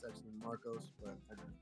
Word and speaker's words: Marcos: So my name is Marcos, M-A-R-C-O-S. It's actually Marcos, but I pronounce it Marcos.